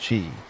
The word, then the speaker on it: qi: Despite its mysterious and sometimes misunderstood origins, at the heart of acupuncture is the concept of qi, pronounced qi, the life force or energy that flows through the body along invisible channels called meridians.